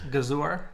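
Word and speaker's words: Gëzuar: Gazor in Albanian. Gazor? Gazor.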